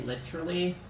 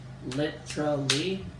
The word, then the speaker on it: literally: And one of my favorites, I say literally. I go kind of British. Literally. And others pronounce it literally.